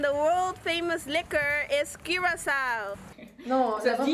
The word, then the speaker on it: Curaçao: And the world famous liquor is Curaçao. Non, Ça la dit prononciation.